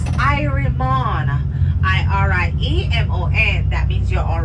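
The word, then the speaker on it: irie mon: It is spelled Y-E-A-H-M-O-N. Yaman, that means yes. If you're feeling good, it's Irimon.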